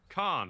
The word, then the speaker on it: Khan: So that's pronounced Khan, right?